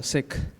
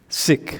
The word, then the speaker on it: Sikh: I pronounce it as sick sick that KH sound at the end sick yeah in in we